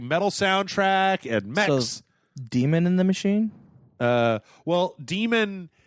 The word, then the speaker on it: daemon: It's like when you get a message from a mailer, demon returned, blah blah blah blah, yeah, okay. right? Daemon, but it's pronounced demon.